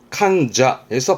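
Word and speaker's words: 患者: 제3자였네요 다이 산샤 나이 산샤 요거는요네 환자 환자였습니다 발음은 칸쟈에서 발음 챙기시라고 말씀드렸던 환자의 칸자 칸쟈 신자죠 이것도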